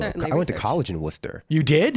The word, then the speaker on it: Worcester: went to college in Worcester you did not that one that one in Ohio so oh they're pronounced the same spelled entirely differently that's correct different state